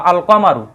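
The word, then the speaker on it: القمرُ: উচ্চারণ কিন্তু হচ্ছে হ্যাঁ যেমন ওয়াল কমার বা আল কামারু এই যে আলিফ লামের উচ্চারণটা হচ্ছে অর্থাৎ আল কামারু এই জায়গায় উচ্চারণ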